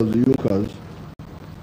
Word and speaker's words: Junkers: It's written Junkers, but it's pronounced as Junkers.